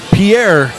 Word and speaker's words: Pierre: people think I'm pronouncing it wrong, but I'm pronouncing it right. Okay. Pierre is in the middle of the state.